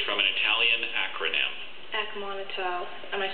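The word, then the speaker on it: acmonital: Akmonotal. I'm sorry, Akmonotal. Definition, please. It's a stainless steel alloy used especially for low-denomination coins, especially in Italy and Albania. Akmonotal.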